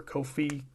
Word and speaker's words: Ko-fi: I always call it Ko-fi. I think they want me to say coffee, but it's spelled K-O-F-I.